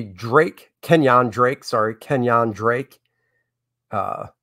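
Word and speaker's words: Kenyan: josh is a niner uh then we got kenya drake kenyon drake sorry kenyon drake uh the names up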